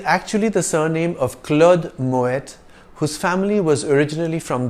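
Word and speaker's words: Moët: house in the world in French the letter at the end of a word is usually silent but Moet is a Dutch name in which the T at the end is sounded it is actually the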